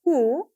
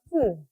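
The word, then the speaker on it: ふ: Nah, di sini Anda bisa lihat ada huruf di bagian tengah yang seharusnya dibaca hu, melainkan dibaca fu.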